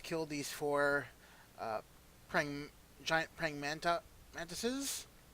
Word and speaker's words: mantises: I have just killed these four giant praying mantises. I was going to say manti, but I just recently learned that that's actually the wrong pronunciation.